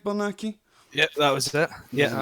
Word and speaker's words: Bernacchi: Did I pronounce that correct, Bernacchi?